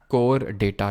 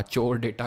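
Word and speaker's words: Chordata: अब हमारे last phylum में आएंगे, दैट इज कोर डेटा, चोर डेटा, कोर डेटा, जो प्रोनाउंस करना है वो करिए।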